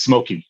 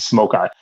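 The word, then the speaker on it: Smoki: I thought it was Smoky until I read more closely and I realized you pronounce it Smoke Eye.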